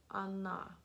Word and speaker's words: она: So you'll notice that this O sounds like an A, and that's because the stress is on this A right here, and Russian has vowel reduction. So this O gets reduced to an A.